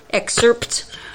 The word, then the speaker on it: excerpt: so even though sir excerpts but it's pronounced excerpt it is with the P yeah yeah make it